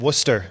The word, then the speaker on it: Worcester: Did I pronounce that correctly, You Will? did. Worcester. Worcester Railers Not Worcester.